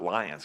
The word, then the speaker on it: Lyon: I pronounce it Lyons because that's the way it's spelled, but it's Lyon, I think.